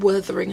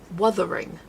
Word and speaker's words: Wuthering: Because I've always said Wuthering Heights. And Mum's like, it's Wuthering. And I'm like, Wuthering. She goes, it's not Werther's Originals. It's Wuthering. There's no O. And I'm like, Wuthering.